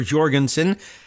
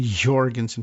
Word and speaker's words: Jorgensen: For Jorgensen, that's a good way of compromising on the pronunciation. Jorgensen, put a little heavy emphasis on that and make it sound almost J-like.